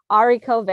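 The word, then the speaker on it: haricots verts: bean dish recently and on the phone was like i don't know how to pronounce this ari cover and i was like yeah that's correct but i bet british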